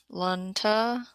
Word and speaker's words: Lantana: Okay, Lantana. They're telling me how to pronounce that flower. All short A's.